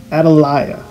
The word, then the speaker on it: Atalaya: house they decided to name this structure Atalaya as how it's pronounced and this is a Spanish term which means watchtower in 1931 construction began